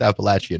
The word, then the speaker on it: Appalachian: d it public education but the the they're pronounced Appalachian apparently and I and I did not learn